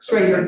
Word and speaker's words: Schroeder: It's spelled Schroeder, but it's pronounced Schrader. Schrader, sorry.